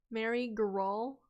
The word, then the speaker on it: Meri Geral: Meri Geral? Is that how we say your character name? Hard G. Meri Geral.